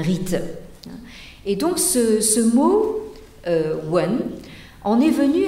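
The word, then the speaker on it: 文: une calligraphie archaïsante et qui se prononce en chinois actuel wen alors vous avez ici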